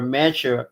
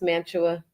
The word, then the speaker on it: Mantua: Yeah, a lot of people that are not from New Jersey can't pronounce Mantua. They always say Mantua.